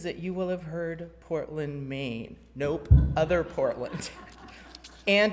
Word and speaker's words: Portland: my experience is that you will have heard Portland, Maine. Nope, other Portland. And it's pronounced Portland, Oregon, by the way.